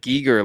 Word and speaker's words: Giger: Oh, I know, yeah, you might be saying it right. I'm used to saying Geiger. Yeah, if you know, you know. So you can say it either way.